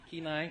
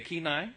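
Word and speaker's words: Kenai: Kai Pennsylvania and Alaska did I say it right ke keenai okay keenai right she's corrected me already twice tonight um she's also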